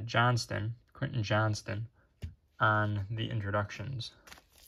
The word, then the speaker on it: Johnston: the green and a Quinton Johnson Johnston how do you say it yeah Johnston Quinton Johnston on the